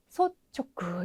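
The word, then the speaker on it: 率直: 네, 솔은 발음이 소쯔가 되겠네요. 소쯔. 근데 직이라는 발음이 네, 직기라는 발음도 있고 촉구라는 발음도 있어요. 근데 이제 둘 중에 어떻게 쓰일지는 우리가 짐작을 그것까지 할 수는 없고 단어로 암기를 하셔야 되겠죠. 그래서 솔직 같은 경우에는 소촉구 읽으셔야 되는 이쪽이 정답이 되겠습니다.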